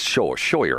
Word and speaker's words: Schroer: It's Schroer. I can't pronounce this.